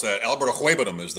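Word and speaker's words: Okwuegbunam: These guys out there trying to pronounce that. Alberto Ahuebanum is how you say it.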